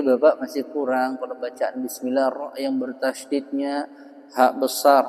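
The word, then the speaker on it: بسم الله: Kalau dibaca tadi bismillah ditekan nih. Bismillah itu jadi berubah sifat, jadi syiddah.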